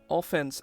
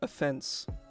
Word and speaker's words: offense: I guess the way we sort of pronounce it, kind of, it's like offense and offense. It's like, it's just the enunciation. You don't even pronounce them different. It's like offense, offense. Like, it's just when you stress.